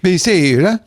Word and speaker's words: Bilsida: that's pronounced Bilsida.